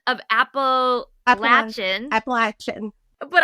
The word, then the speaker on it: Appalachian: 100 times, is that the correct pronunciation of Appalachian. Appalachian. But I, for some reason, say Appalachian. But I looked it up, and they said both ways is okay. Yeah. But it is Appalachian.